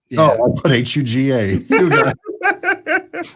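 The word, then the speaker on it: hygge: all right hugo h-y-g-g-e if you're trying to spell it correctly h uga i had to look up the pronunciation i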